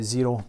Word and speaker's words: Xero: you just go to zero calm spelt with an X so exci are all